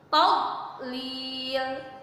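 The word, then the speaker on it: تضليل: Tadlil itu huruf do ya, bukan huruf dal. Jadi jangan ada lagi yang bacanya diqalqalahin, ditahan.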